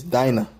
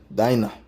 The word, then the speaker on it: Dinah: It's not Dina. It's Dinah. Dinah is the correct pronunciation.